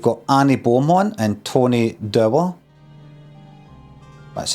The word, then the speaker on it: Dower: In the attic, you've got Annie Beaumont and Tony Dower.